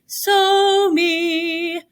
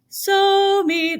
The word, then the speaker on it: Somi: But every time you hear somebody talk about his name, they say, Somi, Somi. That's how you say his name.